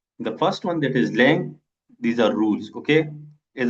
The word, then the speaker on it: langue: The first one that is lang l a n g u e pronounced lang.